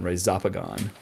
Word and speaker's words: Rhizopogon: that's right zapagon occidentalis so I call these rhizopogon but Alan has a way cooler pronunciation Ray zopagon I'm gonna try to